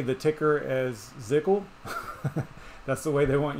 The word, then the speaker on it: ZCL: So that's what the announcement thread actually says, is to pronounce it ZCL.